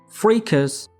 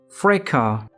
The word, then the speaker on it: fracas: Fracas has two syllables, and in British English, we pronounce it as fracas, fracas, fracas.